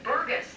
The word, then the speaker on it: Burgess: I tell people it's gust, like a gust of wind, or gust, and that's a good way to remember it and get the pronunciation.